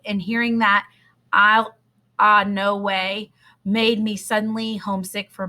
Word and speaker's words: Illinois: the Illinois State Line he pronounced Illinois's ill uh no way exactly the way everyone in by banks Kentucky pronounced it and hearing that I'll no way made me suddenly homesick